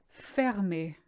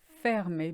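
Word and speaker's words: fermé: in shops in France they're not over there fear me you see firm is not firm E which means closed it's fair me because of that RM after the e Salvia it does mean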